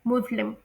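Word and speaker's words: Muslim: हैं, लेकिन इसमें एस को वी की तरह प्रोनाउंस किया जाता है, जो कि है मुस्लिम।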